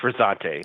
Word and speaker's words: Frizzante: And then there's the Frizzante bar. You pronounced it, right? Yes, Frizzante.